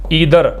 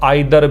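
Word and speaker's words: either: each भी होता है ईदर जिसको आप आइर भी प्रोनाउंस कर सकते हैं नीदर या नाइ दर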